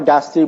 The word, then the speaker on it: diastole: एक है सिस्टली और दूसरा है डायस्टली। अब यहाँ पर दो टर्म हैं, सिस्टली और डायस्टली। इसका प्रोनाउंसिएशन बिजार किस्म का है। आमतौर पर इसको सिस्टोल और डायस्टोल बोलते हैं, लेकिन इसका सही प्रोनाउंसिएशन है सिस्टली और डायस्टली।